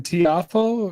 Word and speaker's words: Tiafoe: How American Tiafoe, am I saying it right?